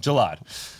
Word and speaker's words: Jallad: Say it right the first time. Gelad. Like Gelad without the O.